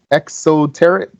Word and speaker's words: exoteric: the exoteric the esoterics am I saying it right exoteric exoteric yes what does that mean